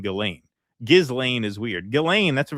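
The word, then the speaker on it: Ghislaine: The H in Gizlane means that you should pronounce it Gizlane with a hard G as in go.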